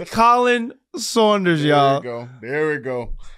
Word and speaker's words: Khalen: You should put it as C-O-L-I-N. Damn it! It is Khalen Saunders, y'all. There we go. Damn. So first, what are some of the common Khalen?